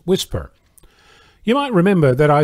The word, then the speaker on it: WSPR: signal propagation reporters network or wspr pronounced whisper you might remember that